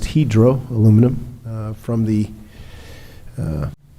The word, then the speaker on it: Hydro: for helping incentivize the $80 million expansion of Hydro Aluminum found out it's pronounced hedro aluminum uh from the uh Norwegian uh CEO